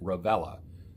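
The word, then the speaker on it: Revelia: called paul revela and it looks like revellia but it but it's spelled r-e-v-e-l-i-a rebellia but he pronounces it ravella i like his channel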